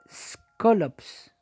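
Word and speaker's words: σκόλοψ: La palabra aguijón se escribe de esta forma, como usted está viendo ahí, y se pronuncia aproximadamente skolops.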